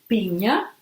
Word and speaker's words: piña: So we have to pronounce ñ. Piña.